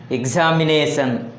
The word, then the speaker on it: examination: For example, examination. The word examination has 5 syllables. Here the word ending in ION. Then the stress falls on the second syllable from the end. Examination. The second syllable from the end is ne. So here the stress is on the nation.